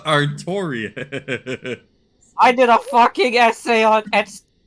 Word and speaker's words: Artorius: No, it's Artorius. You're You're reading that R as an N. So, you keep saying Artonius. Artorius.